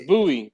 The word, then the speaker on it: Bowie: It's Bowie. It's Bowie is how you pronounce that.